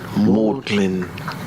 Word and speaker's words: Magdalen: all right let's say Magdalene College we were born in Oxford modeling Maudlin is that how you pronounce it I never knew that mag really you must